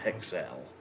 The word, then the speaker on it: HXL: So when I looked at this, I found I thought it was HXL, but it's actually pronounced Hexel.